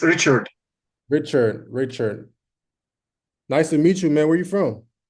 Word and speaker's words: Richard: That's how you pronounce it, Richa? No, it's Richard.